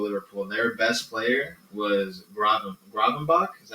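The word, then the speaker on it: Gravenberch: on that Ipswich game that I saw with Liverpool, their best player was Gravenbach. Is that how you say it? Gravenberg.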